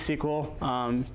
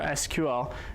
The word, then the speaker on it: SQL: you haven't heard of sequel like it could be pronounced sequel or SQL and it stands for